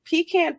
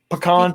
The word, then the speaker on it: pecan: And then pecan pie, which I'm not a fan of pecan pie. Well, there's in my part of Texas, there's like a civil war going on just on how you pronounce it. pecan pie or pecan?